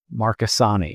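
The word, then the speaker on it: Marchesani: M A R C H March E S A N I Marasani is apparently how she pronounces that.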